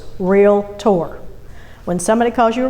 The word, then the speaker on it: realtor: realtor you're a realtor lesson number one it's two syllables real tour when somebody calls you